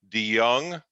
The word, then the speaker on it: DeJonge: The last name is DeJonge, just like DeYoung, but it's spelled the old Dutch way.